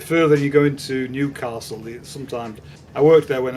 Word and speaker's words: Newcastle: And anyway, actually the proper way of saying it is to put the emphasis on the second syllable. It's not Newcastle, it's Newcastle. That's how they say it up there.